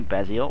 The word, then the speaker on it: Bazeleel: i am yours truly beziel or baz for short because some people pronounce my name basil which it's not spelled like the spice or anything else so